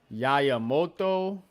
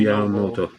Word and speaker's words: Yamamoto: Yayamoto. Mm-hmm. Um. Yayamoto. Let me see if I can find it. How do you pronounce this guy's name, man?